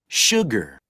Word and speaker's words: sugar: Salt, salt, 소금, 소금, A-L, sugar, sugar. 설탕, 자, 여러분, sugar 이렇게 하거나 sugar 이렇게 합니다. sugar 아니라고요. sugar 이렇게 하거나 sugar 이렇게 해주시면 돼요. 슈 발음보다는 우 발음을 좀 더 많이 하고요.